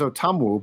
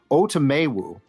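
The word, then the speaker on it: Otomewo: has a new pronunciation I thought it was otamu but it's now otomewu and Ross Blacklock okay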